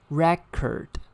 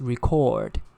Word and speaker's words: record: And the second pair, when it is used as a noun, it should be record. The stress falls on the first syllable. And when it is used as a verb, it's record. The stress falls on the second syllable.